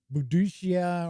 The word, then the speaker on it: Boudica: Or Boudicca, or I know there's like umpteen different ways that her name has been spelt and pronounced. I always, most of the history shows that I've seen, always call her Boudica.